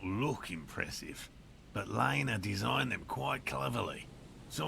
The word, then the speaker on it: Lena: not look impressive but liner designed them quite cleverly so I'm sure they'll do the trick uh let okay so you pronounce it later so I'm gonna say that as well Lena designed the traps yes